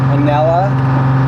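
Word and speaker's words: Anela: How do you pronounce that? A N E L A. Anella.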